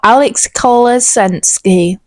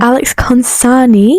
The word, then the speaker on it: Alex Consani: Cole posted a story not so long ago, and it was of Alex Kolesensky. Who? How'd you say her name? Alex Consani.